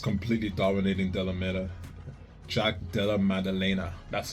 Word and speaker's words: Maddalena: Jack Dea Madelena, that's how you say his name.